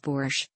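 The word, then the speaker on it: borș: an ingredient for soups such as boars pronounced boorish pickles and other dishes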